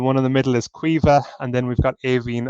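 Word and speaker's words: Caoimhe: Looking at it, if you only spoke English, it is very hard to pronounce. This is Maeve. The one in the middle is Quiva, and then we've got Aveen on the right-hand side.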